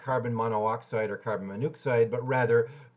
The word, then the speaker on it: carbon monoxide: pronunciation is contracted notice carbon monoxide is not carbon mono oxide which would look like